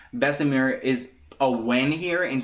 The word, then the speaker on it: Bessemer: got some good news bessemer which i know i've been saying i've been saying bessamir for some time i'm working on my pronunciation it is bessemer has been approved so